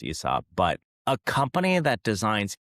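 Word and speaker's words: Aesop: think, but as the son of two architects, Asop, and I even know I say that knowing that their name is actually is pronounced Esop, but a company that designs each store architects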